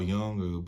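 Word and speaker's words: Jung: with this quote by Carl Young car young I've heard it pronounced both ways but this is like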